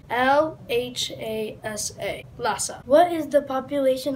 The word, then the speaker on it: Lhasa: Lhasa is the capital of Tibet. It is spelled L-H-A-S-A.